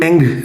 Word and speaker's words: Ng: que se llama Andrew NG, así lo conoce todo el mundo, Andrew NG. lo pronuncian Andrew Eng. Se se pronuncia eng, pero sí, sí, sí,